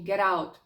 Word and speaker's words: get out: На, наприклад, у словосполученні get out між голосними.